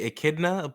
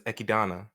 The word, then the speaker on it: Echidna: name uh i think the dubs say echidna but the sub pronounced as ekidana okay we got her